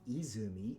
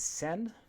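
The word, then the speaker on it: 泉: a fountain is an izumi an izumi is a spring or a fountain it's also a pretty heavily used name other pronunciation is sen help aid or a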